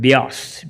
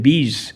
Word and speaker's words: Beas: to a place called Beas, B-E-A-S, Beas. When he used to fly over the map, he would look at the map, he used to pronounce it bees and miss it.